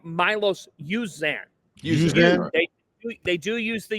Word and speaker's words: Uzan: But let's get the name right, Milos Uzan. Uzan? They do use the U. It's in the pronunciation guide, and I heard Fran Fraschilla My bring it up on apologies.